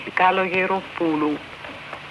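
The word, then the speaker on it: Kalogeropoulou: In a 1957 interview in Chicago with Norman Ross, Callas spoke of her early years and gave a lesson in pronouncing her name. Ready? Kaloyeropulu.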